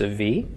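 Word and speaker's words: אב: So to pronounce this, aleph makes no sound, kametz makes an ah, beit with no dagesh makes a v. Av.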